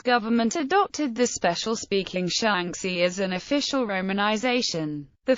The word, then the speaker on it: Shaanxi: however it is always rendered as the simple shangi and not shanki or shanki as the spelling is irregular it is sometimes found hyper corrected to shanki the idea misinterprets the name as three syllables rather than its actual two syllables history shanki is considered